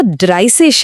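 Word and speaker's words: dreißig: पर 30 में जिग नहीं है वो ड्राइसेस है। उसमें यह अजीब सा बी जैसा लेटर है।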